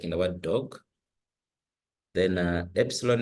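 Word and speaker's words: ἔψιλον: Then epsilon is pronounced as A, just like in the word met. Then the zeta is pronounced as Za, just like in the word des.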